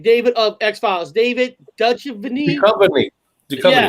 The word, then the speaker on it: Duchovny: Duchovny.